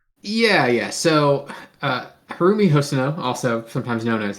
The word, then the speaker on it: Haruomi: This week we reviewing Hono House by Har I'm going to try Harumi Hono. Is that right? Yeah. Yeah, you got it. Okay.